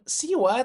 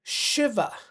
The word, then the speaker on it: Shiva: Tapi bacanya itu bukan Siwa tetapi Shiva, bukan Ganesa tetapi Ganesha.